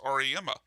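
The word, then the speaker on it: Auriemma: Oh, we even learned from Michael that it's pronounced Ariema.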